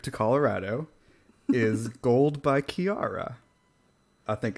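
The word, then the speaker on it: Kiiara: of our trip to colorado is gold by kiara i think it's how you say her name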